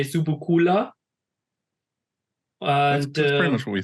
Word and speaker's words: Subucoola: it mean laughs uh it's pronounced in German we say zubukula uh pretty much what